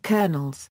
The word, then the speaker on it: colonel: aragon where they were also known as caronolos since they were appointed by the crown thus the english pronunciation of the word colonel the first colonels were